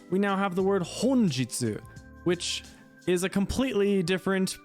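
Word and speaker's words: 本日: flip those kanji we now have the word honjitsu which is a completely different pronunciation entirely again now it chains to Jitsu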